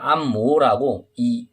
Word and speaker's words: 按摩: 근데 한국에서 올 때 우리는 지금 안마라고 얘기하죠. 안마라고 얘기하는데, 중국에서는 안모라고, 이성인 다른 발음이, 이 발음이 두 개거든. 이 모자가 마 아니면 모, 여기 한국어로 하면 마인데 안마.